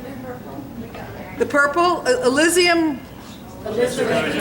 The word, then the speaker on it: Alizarin: I'm going to throw in the, and I can't pronounce this right, but I know you guys, someone could, Elysium red? Alizarin.